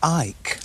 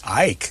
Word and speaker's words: Icke: It's actually David Icke. Ike? Yeah. Oh, look like Icke. You could pronounce it Icke.